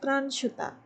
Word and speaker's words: Pranshuta: YouTube channel you can you can pronounce that uh it's pran shooter my ID is on